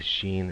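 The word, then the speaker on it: שׁ: regular s or S the first one was the Sheen and that would be like sha okay we're going to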